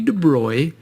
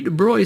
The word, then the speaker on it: de Broglie: rid of all that replace it with a Y in your mind Louie de Bry in 1924 wrote a